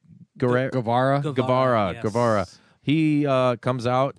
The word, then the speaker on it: Guevara: Guevara.